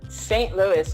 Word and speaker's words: Saint Louis: say your last name Donna Saint Louis effect the city I was going to say French ways sound Louie Donna very cool well good